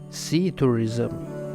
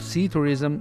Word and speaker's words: psithurism: word to describe them see tourism the P at the beginning of sea tourism like many other words beginning with PS is silent and the word is pronounced as seed or Reason the term ceterism is